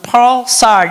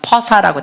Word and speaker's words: pulsar: 영어로는 pulsar 이런데 한국식 발음은 그냥 퍼사라고 돼 있어요. 영한사전 찾아봤더니 퍼사로 나왔습니다.